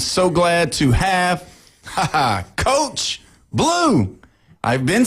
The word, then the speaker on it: Below: his name is spelled B-E-L-O-W, right, Coach? Yep. And that's not how, but it's not below. Nope. You can say whatever you want, but it is blue. It's blue, like the color.